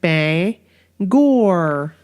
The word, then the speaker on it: Bangor: and like Bangor exactly it's not Bangor no not Bangor its Bangor like Bay and like like Bay Gore Bank were it was